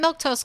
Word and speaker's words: Milquetoast: I'm Milktoast. That's how you say my name, in case you were wondering.